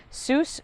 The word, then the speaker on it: Seuss: Seuss Creek Botanical Garden, pronounced like Dr. Seuss.